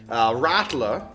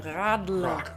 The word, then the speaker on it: Radler: Radler meant bicycle rider. Radler.